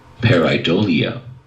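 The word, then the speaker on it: pareidolia: ambiguous visual pattern okay now here's how it's pronounced parolia Okay let's listen to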